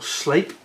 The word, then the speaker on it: Sleap: In Shropshire there is an airfield called Sleap, and it's spelled S-L-E-A-P.